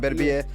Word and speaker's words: Beterbiev: I say it for real all the time, Beterbiev.